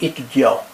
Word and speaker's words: étudiant: Je suis étudiant. You don't pronounce the T.